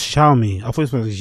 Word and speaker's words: Xiaomi: Oh, it's pronounced Xiaomi. I thought it was Xiaomi. It's pronounced Xiaomi over my head.